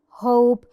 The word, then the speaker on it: hope: hope. We do not mention the E that comes in the end of the word. مش بنذكر أو بنقول أو بننطق ال E اللي بتيجي في الآخر، فبنقولها hope. ال O طويلة hope، بتصدر الصوت الطويل بتاعها.